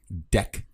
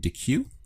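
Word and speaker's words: deque: But one of the ways to track all these URLs is in a deck object. Okay, it looks like the word DQ, but it's actually pronounced deck.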